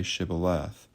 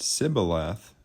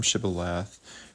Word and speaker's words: Shibboleth: If he answered no, they told him, "Please say Shibboleth." If he said Sibboleth, because he could not pronounce it correctly, they seized him and killed him at the fords of the Jordan.